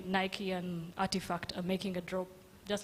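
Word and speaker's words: RTFKT: reference a company called artifact but the way they spell their company is is very interesting it is RT RT F KT but they pronounce it as artifact now artifact in 2021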